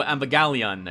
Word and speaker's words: Evangelion: Which is, I guess, supposed to represent the Neo Evangelion, I think is how it's said.